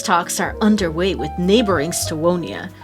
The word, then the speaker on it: Stevonia: Peace talks are underway with neighboring Stevonia. Stevonia? It's Stevonia, but they spell it with a W.